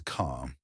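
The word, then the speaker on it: خ: The last letter for today is ca. It has the same shape as jim and ha, but it carries one dot on top. This makes a heavy sound from the back of the throat.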